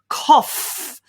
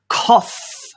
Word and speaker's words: cough: of that is simply cough with an f sound don't get stressed about the spelling with the o-u-g-h just pronounce it with an f sound cough cough your turn well